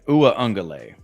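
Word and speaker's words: Uiagalelei: rushing attempts for DJ uong galal how do you say his name there's a there's a silent n in there OA oh a angay OU angay there's no n in there OU angay DJ U angay over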